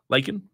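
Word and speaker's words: Lakhin: Cincinnati transfer big man, Victor Lakin. L-A-K-H-I-N. Am I saying it right? Lakin?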